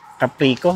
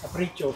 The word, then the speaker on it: Capricho: So yun yung maganda pag pumunta kayo dito sa ah Puente de ano Caprico no? Capricho. Caprito yun ang tamang pronunciation.